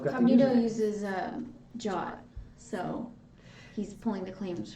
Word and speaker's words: JWT: You can say Jot. Like I think that's the correct pronunciation. It just, I don't know. To me, it's amazing that the W turned into an O.